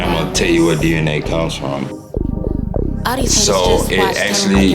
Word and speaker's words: DEINAE: People will probably see the name and say Deinae, but it is DNA. And I'm gonna tell you where DNA comes from.